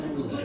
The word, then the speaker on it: Gouda: Gouda cheese. That's how we pronounce it in English.